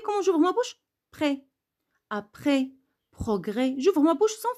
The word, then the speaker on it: après: Après, vous n'avez pas écouté S parce que c'est une lettre muette.